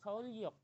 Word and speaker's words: Seoul-yok: Nah, itu dibacanya Seoul-yok. Kenapa yok, L, Seoul-yok, enggak Seoul-yok? Karena yo tersebut ada nian. Terus kita kembali lagi ke aturan sebelumnya. Ketika nian ketemu sama real, nian tersebut akan diganti menjadi real. Terus real ditambah real jadi double L.